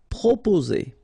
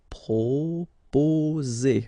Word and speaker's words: proposer: Proposer. Okay, so proposer. Remember, 2 vowels here and only 1 S, so you will get the sound Z.